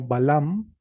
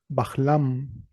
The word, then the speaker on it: Balam: Por ejemplo, la palabra Balam, que significa jaguar, pudo haberse pronunciado como Balam o como Bahlam, Bahlam, con una vocal y una H preconsonántica.